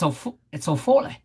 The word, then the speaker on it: Foley: His name was originally Ofola, but it's spelled like Ofola, right? But it's Ofole.